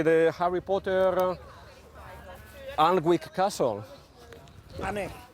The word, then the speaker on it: Alnwick: Annick. Alnwick, that's the way you pronounce it, yeah, Alnwick.